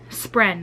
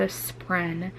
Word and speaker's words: spren: this this friend spren spren that's the word I always say it wrong the spreen and what they look